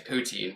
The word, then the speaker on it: poutine: I'm gonna need a pronunciation and a spelling on that one. So Poutine.